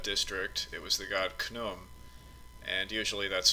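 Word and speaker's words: Khnum: patron of that district it was the god knum and usually that's spelled k-h-n-u-m and he's usually shown with the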